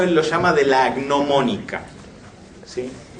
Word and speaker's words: gnomónica: Eso es lo que él llama, en este libro noveno, él lo llama de la gnomónica, ¿sí? Gnomónica se escribe con G adelante, GN, viene de gnomon, y básicamente los gnomon eran todas aquellas cosas que servían para medir cuestiones astrológicas, ¿sí?